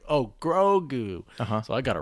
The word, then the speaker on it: Grogu: favreau on tv and he emphasized the first syllable which i've i've heard nobody else do grogu gregoo gogu is what he